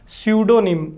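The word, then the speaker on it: pseudonym: सही क्या हो जाएगी सूडो निम इसमें जो पी है दोस्तों वो साइलेंट है क्या प्रोनंसिएशन है सूडो निम सूडो निम का मीनिंग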